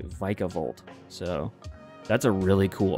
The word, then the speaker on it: Vikavolt: which I always pronounced Vikavolt, but apparently it's actually Vikavolt.